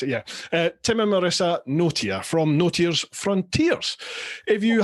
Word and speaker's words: Notier: Tim and Marissa not it's notier is it noer that's correct that's how you pronounce it yeah Tim and Marissa NOA from noers Frontiers if you haven't heard uh